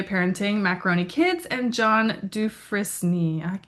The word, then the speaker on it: Dufresne: She's been published in Sliver of Stone Literary Magazine, Tampa Bay Parenting, Macaroni Kids, and John Dufresne. How do you say that, Sarah? Dufresne. Dufresne. Dufresne. Okay, Yeah. totally butchered it.